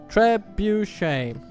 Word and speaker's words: trebuchet: It's got 3 syllables. Trebuchet.